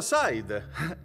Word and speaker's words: Said: Si pronuncia Said. Come sai, ma con la D alla fine.